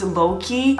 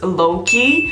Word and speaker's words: Lockeys: their name and it's loki as long as i read its combination of look and key and you pronounce it together and it's loki which is so cool